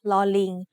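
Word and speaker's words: ฦๅ: The other pair of vowels is similar, except they are pronounced like a combination of ลอลิง with the vowel sounds สระอึ or สระอือ ลึ and ลือ are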